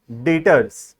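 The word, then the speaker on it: debtors: यह उसका स्पेलिंग है लेकिन जब उसका हम प्रोनाउंस करते हैं तो यह बी वर्ड जो है यह साइलेंट है यहां पर तो प्रोनाउंस होता है एज डेटर्स डी ई टी ओ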